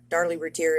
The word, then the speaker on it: Routier: It is the case of Darlie Routier, and I believe as much stuff as I've looked at and I've analyzed, I think Darlie Routier is the right way to say it.